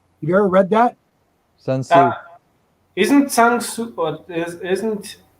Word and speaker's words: Sun Tzu: with the Red Book by, I'm going to pronounce that incorrectly, Jeff. You can correct me. Shang Tzu. You know, the Art of War. Yeah, the Art of War, the Red Book. Sun Tzu.